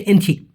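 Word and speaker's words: Encik: অনেকে এনসি বলে অনেকে ইঞ্চি বলে। সঠিক উচ্চারণ হচ্ছে এনসি।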